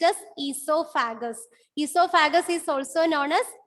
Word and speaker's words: oesophagus: letter is O, but it is silent. So it is pronounced as esophagus.